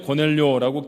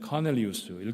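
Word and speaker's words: Cornelius: 우리 성경에는 고넬료라고 기록되어 있습니다만 원래 불리어지던 발음 그대로 하면 카넬리우스일 겁니다.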